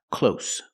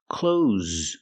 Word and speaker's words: clothes: is an uncountable noun the word is not pronounced close close it's pronounced close close use the z sound with a voice like Zebra z clothes these are clothes remember close has the same pronunciation as close as in close the door these are close and